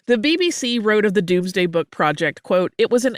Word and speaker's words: Domesday Book: project yeah so the Doomsday Book which uh looks like it should be pronounced domesday but is not uh if you're like